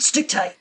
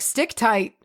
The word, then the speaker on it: stichtite: Like stick tight, I'm pretty sure I feel like I have heard before. Stick tight. But it's gorgeous. Stick tight is. And to spell it, it is Stichtite. Oh, okay. So it's like stick.